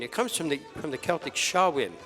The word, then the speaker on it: Samhain: It comes from the Celtic Samhain. The MH is silent. It's Saai, Samhain.